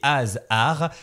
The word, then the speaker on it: Has'Arts: En tout cas, on va rappeler une dernière fois votre nom, l'atelier des ASR. Alors ça s'écrit HAS apostrophe art ARS mais pour le coup c'est quand même assez facile à retenir.